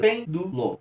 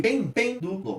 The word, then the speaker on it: pêndulo: Então eu tenho 3 sílabas e na pronúncia a gente vê, ó, que pêndulo. De bem, ele só decai depois. Por isso que bem vai ser a sílaba tônica, do e lo, não. Então, pêndulo, sílaba tônica pen, sendo a antepenúltima, também é uma proparoxítona.